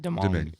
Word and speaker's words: Domingue: Domingue. Yeah. How do you pronounce it? Domingue.